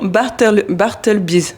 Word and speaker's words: Bartleby's: Pourquoi avoir choisi le nom Bartleby's? C'est ça, j'ai bien prononcé, ça va. C'est exactement ça. Il y a un petit son anglais quand même dedans.